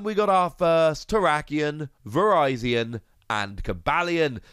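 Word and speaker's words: Virizion: got our first tarakian verizon and kabalyen yes that is how you pronounce verizon no i'm not terribly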